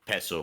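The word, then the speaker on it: peço: screens plal yeah and it is pronounced peso with a with a soft C okay what what does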